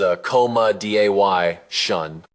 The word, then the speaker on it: accommodation: Say accommodation as a coma dy shun.